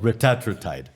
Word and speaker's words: retatrutide: तो वो कह रहा था कि this is called retatrutide.